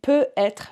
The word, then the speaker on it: peut-être: Il peut être, remember we only pronounce the T in between when there's a dash and it means maybe. So peut-être, when I can hear the T, it means maybe. Peut être, I cannot hear the T, that means like it can be, maybe.